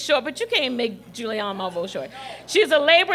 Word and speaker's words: Julianne Malveaux: Julianne, let's say it right, Julianne Malveaux.